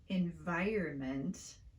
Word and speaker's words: environment: also be asking yourself why we change the position of the r sound in this word we say environment instead of environment like it's spelled this is a classic